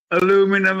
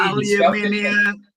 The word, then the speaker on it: aluminium: Well, aluminum, as they say in America. Yeah, it's actually aluminium.